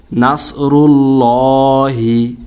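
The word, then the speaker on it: نَصْرُ اللهِ: এখানে আল্লাহ শব্দকে মোটা করে পড়তে হবে, আল্লাহ শব্দ লামটাকে মোটা করে পোর করে মোটা করে পড়তে হবে। এখানে বারিক বা পাতলা হবে না। তো উচ্চারণটা হবে নাসরুল্লাহি, লহি হবে, লা হবে না, ল হবে।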